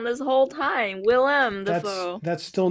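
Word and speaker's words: Willem: what oh oh no I've been reading his name wrong this whole time Willam that's still not as bad as me saying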